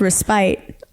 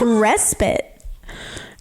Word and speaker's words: respite: And so I thought the word respite was pronounced respite, but it's respite.